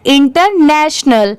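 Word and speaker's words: international: इंटरनेशनल। यहाँ पर अल की साउंड नहीं आती, नल की साउंड आती है लास्ट में। TIO को स बना दिया गया है, साथ में कैसे पढ़ेंगे? इंटरनेशनल।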